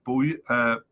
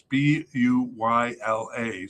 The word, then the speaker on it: Bouila: The likely candidate is Yannick Boulia. I don't know really how to say it. It's Buyla. So Bouila. I always say Boulia, but that's probably wrong.